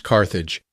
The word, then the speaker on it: Carthage: Before she parted, she named her new town Carthage, today pronounced Carthage.